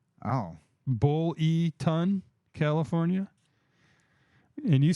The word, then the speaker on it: Buellton: Buellton? Oh. Bull-E-Ton, California.